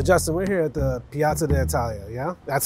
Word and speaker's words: Piazza d'Italia: So Justin, we're here at the Piazza d'Italia, yeah? That's how you pronounce it? Piazza d'Italia. Piazza, you gotta have that little accent in there.